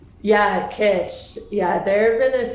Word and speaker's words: kitsch: i go through this website i'm like it kitsch is that how it's pronounced yeah kitsch yeah there have been a few times where